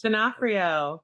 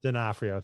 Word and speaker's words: D'Onofrio: one of my movies I love is Men in Black, and Vincent, I don't know how to pronounce this. D'Onofrio. D'Onofrio, thank you.